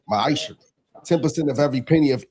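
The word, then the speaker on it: ma'aser: You find this in the book of numbers chapter 18 verse 21 in the book of Malachi 3:8-10 means 10th in Hebrew and it's pronounced maisha 10% of every penny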